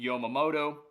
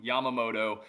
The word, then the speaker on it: Yamamoto: League I got Yoshobu Yomamoto. I know I just butchered his last name when I typically don't, but Yoshobu Yamamoto, 34 innings pitched, a 106 ERA at the time of April 30th.